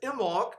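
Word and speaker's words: Imbolc: of the year the beginning of february is imoc i-m-b-o-l-c which is a celtic fire festival it's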